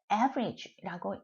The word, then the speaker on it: average: 그래서 average 이렇게 발음하는 것이 아니라 액센이 있는 특징을 가지기 때문에 액센이 있는 부분은 특별히 강조를 하셔야 됩니다. 자, 그래서 제가 굉장히 좀 과하다 싶게 average라고 읽었어요.